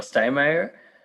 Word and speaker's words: Steinmeier: share my screen yes i'm steinmeier i use the dutch pronunciation of my family name i'm a digital preservation